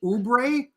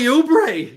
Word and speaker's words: Oubre: guys on my team is it Kelly oubre yes you nailed it Kelly oubre yes you nailed it